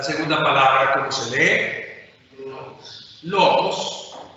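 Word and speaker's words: λόγος: Logos, que traducimos eventualmente como palabra. ¿Cuántas? Tiene 2 sílabas. ¿Dónde está el acento? En la penúltima.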